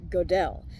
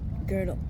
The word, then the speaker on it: Gödel: have gotten away with calling Kurt Gödel, "Kurt GO-DELL." Surely, another classmate in the math class would have corrected you, and said, "Hey, buddy, it's 'GUH-DLE,' not 'GO-DELL.' Like, don't say that!